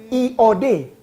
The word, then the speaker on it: yod: Yod, I-O-D. Bacanya Iod. Iod seperti ada Y.